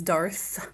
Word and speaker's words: Darth: And yes, I know it is Darth with a TH, not a K.